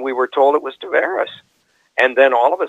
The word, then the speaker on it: Tavares: while we will get a total reversal John Tavares this year startled this when this fallen training camp his uncle in the National Lacrosse League we had been saying Tavares whenever we described lacrosse and I had a